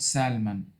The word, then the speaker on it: salmon: Salmon is a fish, so Anne likes salmon. Um, Anne likes The all excuse me, the L in this word is a mute, silent. Salmon, not salmon.